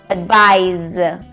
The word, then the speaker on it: advise: it should sound like Z and not s adviser to give someone an advice I need you